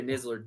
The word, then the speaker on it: Nisler: So, for those who don't know, Andrea Nisler did go to the games in 2020. How do you say her last name? Nisler. Okay. How did you think I said it? You're saying it with a Z.